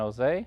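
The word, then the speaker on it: Hoezee: to the Paranormal my co-host everybody I'm Jose of Jose history Productions YouTube channel Jose is spelled h-o-e-z-e-e is still doing some ghost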